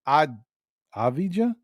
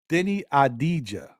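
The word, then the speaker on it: Deni Avdija: now I'm Tongue Tied Denny adija there you go the V is silent if we got Denny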